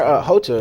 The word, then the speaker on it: Rocha: Sorry, Hocha, excuse me, I did mispronounce his name a little earlier.